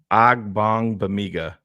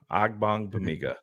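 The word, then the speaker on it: Ogbongbemiga: a good game B it's got bong in the middle of the name so that's the the AG bong Bigga that's Carr's favorite player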